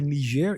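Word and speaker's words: Niger: n i g r it's called nir in it's a French pronunciation that's how I use it so there was a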